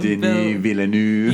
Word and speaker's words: Denis Villeneuve: Denis Villeneuve. Yeah, I do not. Yeah, that's never coming out of my mouth. When we the fake American French is just like, let's just not pronounce some letters.